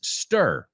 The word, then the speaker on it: stir: Ahora, cuando ves esa palabra, S-T-I-R, yo quiero que tú veas S-T-E-R. Ok, so apúntalo. Apúntalo tal como se escribe, táchala ahí y pon una E debajo. Now, isn't it easier to say now?